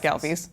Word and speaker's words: Ghelfi's: Falmouth Road Race and also the owner of Ghelfi's. Is it Ghelfi's Chocolate Import? What's the total? Ghelfi's Candies of Cape Cod. Ghelfi's Candies of Cape Cod. Yes. Or as everyone shorthand just calls around here, Ghelfi's. Ghelfi's.